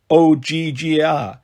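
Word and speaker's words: Ogygia: you are in oia she pronounced it like OG G is that near Mount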